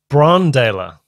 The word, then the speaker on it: Brann Dailor: Brann Dailor. Okay, Brann Dailor. So I pronounced that wrong.